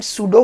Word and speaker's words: pseudo: you know real और सुडो forces याद रखिए सुडो में पी साइलेंट होता है ठीक है तो क्वेश्चन